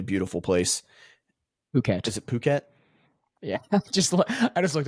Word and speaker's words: Phuket: Is it Phuket? Yeah. Just I just looked up pronunciation. Phuket.